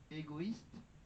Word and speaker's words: égoïste: Enfin, le tréma permet d'indiquer qu'il faut prononcer deux voyelles séparément. Il est toujours placé dans la seconde voyelle. Hir, égoïste ou le mot païen.